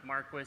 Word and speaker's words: Marquis: hello everybody Trev Kennedy from Maris energy it's pronounced Marquis it's a family name it's a family-owned company